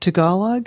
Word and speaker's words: Tagalog: Is it Tagalog? Is that how you pronounce Tagalog, yes, Tagalog.